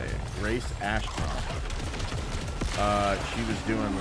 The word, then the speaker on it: Grace Ashcroft: Grace Ashcroft.